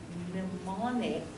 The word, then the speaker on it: mnemonic: It's using a mnemonic. This is an interesting word because you don't pronounce the first M.